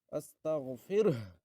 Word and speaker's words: استغفره: ফাসাব্বিহ বিহামদি রাব্বিকা আস্তাগফিরহ, আস্তাগফিরহ, লাস্টে হা উচ্চারণ করবেন।